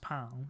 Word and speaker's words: pain: I know it's got an I in it, Bashimi, but it's still pronounced pan, isn't it? Like pan au chocolat. It's not pain au chocolate.